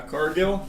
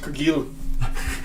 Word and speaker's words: Cargill: Cargill? It's pronounced Cargill. Oh, it's French.